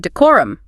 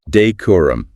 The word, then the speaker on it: decorum: Then we have decorum pronounced decor. Deorum with clear emphasis on that second syllable core.